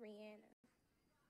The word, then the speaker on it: Rihanna: They can't pronounce Rihanna's name right. It's Rihanna, not Rihanna.